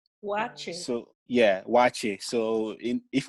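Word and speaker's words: Waakye: And it's called wache. Wache. So yeah, wache. So if we're trying to spell it in English, you do WAACHE, wache.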